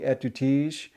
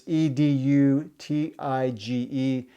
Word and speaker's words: Edutige: I call it the Etutige. I've heard people say it completely different. It's Edutige.